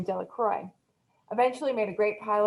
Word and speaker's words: Delacroix: The villagers pronounced this name Delacroix, eventually made a great